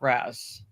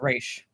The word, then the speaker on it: Ra's: Because I believe it's pronounced Raish Al Ghul, not Raz. Raish. It's pronounced Raish.